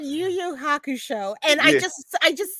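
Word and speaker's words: Yu Yu Hakusho: some kind of way and oh I said you you Haku show and I just I just said it because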